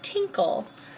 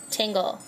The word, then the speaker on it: Tingle: He's 35 years old, and he's single, and that character, pronounced in Japan as Tinkle, is Tingle.